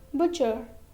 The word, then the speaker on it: butcher: Letter T is silent. Next, watch, witch, sketch, catch, stitch, butcher, scratch.